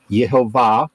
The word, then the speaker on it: Jehovah: sure okay who was who was known as Jehovah uh yehovah is the correct pronunciation uh also known as the god of